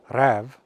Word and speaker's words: räv: Räv, pronounced almost the same as the Old Norse root rev, means fox.